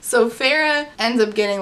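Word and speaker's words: Feyre: i s okay so Farah f e y r e asked Alice hey I want to go talk to amarantha and Alice is like absolutely not so Farah ends up getting like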